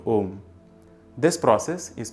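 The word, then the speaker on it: ओम्: When the sound A mixes with the sound E, it becomes A. When it mixes with U, it becomes O. You can try these out for yourself as a fun exercise. So yes, it is pronounced OM when you are using pranava as a word to address the divine.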